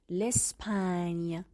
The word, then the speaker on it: Espagne: L'Espagne, l'Espagne. وقتی حرف ژ و ان کنار هم قرار میگیرن چه تلفظی داریم؟ l'Espagne، صدای نیه.